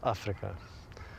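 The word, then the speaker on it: Afrika: My full names are is Africa. Africa is pronounced in the Africans way.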